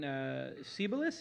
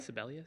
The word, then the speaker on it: Sebelius: So Kathleen Sebelius, is how you pronounce it? Is that right? Sebelius. Sebelius.